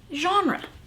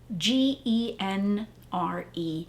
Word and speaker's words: genre: it's not english it's it's french it's a french term it's got that sound in it that actually is made by the letter g g e n r e is how genre is spelled what's interesting about genre